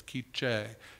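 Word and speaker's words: K'iche': It's spelled like quiche, but it's Quiche.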